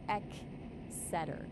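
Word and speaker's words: Exeter: Extor is pronounced eeter though honestly half of Britain's place names are intentionally designed to confuse outsiders.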